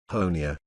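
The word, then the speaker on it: Honea: third year as Sheriff honia rhymes with Tony has become something of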